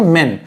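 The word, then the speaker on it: men: लोग भी हो सकते उनको भी बोलेंगे मेन और एक आदमी उसको बोलेंगे मैन तो इसको लिखेंगे ऐसे मैन और इसको बोलेंगे मेन वैसे ही वुमेन के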